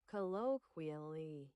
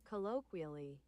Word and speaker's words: colloquially: I hear the the kw part that you guys were saying I was missing. Colloquially colloquially colloquially colloquially. She's saying it right. Yeah, but the phonetic part you guys were saying. You guys were saying colloquali. Colloqually. There's no wall sound in there.